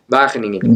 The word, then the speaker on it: Wageningen: Wageningen.